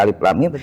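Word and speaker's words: الم: Mestinya dibaca alif lam mim karena gurunya tidak ngerti dibaca alif lam mim malah dibacanya alama. Betul.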